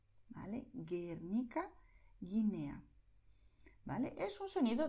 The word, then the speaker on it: Guernica: En el caso de Guernica, Guinea, la U se escribe, pero no suena, ¿vale? Guernica, Guinea, ¿vale?